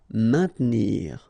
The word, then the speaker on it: maintenir: Don't insist on the E. Maintenir.